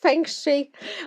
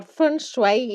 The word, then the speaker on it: feng shui: So, welcome to our first feng shui or feng shui. It depends how we use the Chinese pronunciation or the European pronunciation.